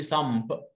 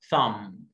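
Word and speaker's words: thumb: طب اللي بعدها شورت يو اهي، هتقول لي سامب صح؟ لا ثام، ثام التي اتش ثا شورت يو، ثام البي هنا حرف ايه؟ سايلنت، ثام.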